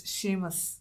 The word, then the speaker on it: Seamus: It's not like Neville, where you know how to pronounce his name because it comes up a lot. It's Seamus. Yeah. For this episode, let's try to say Seamus. Seamus.